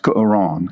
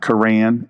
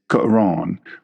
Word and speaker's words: Quran: It's actually pronounced Quran. It's not Quran. It's Quran.